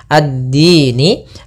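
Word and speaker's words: الدين: Nun awalnya berharakat kasrah. Ni addini. Karena dia waqaf maka kita rubah menjadi sukun. addin.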